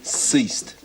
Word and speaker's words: ceased: Not bad, but it's a soft C. Ceased.